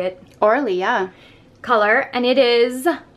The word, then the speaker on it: Orly: Orly.